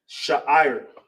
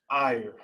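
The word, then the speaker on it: שער: And how you say hair in the ancient Hebrew, how you pronounce it is sha'ir. Sha'ir.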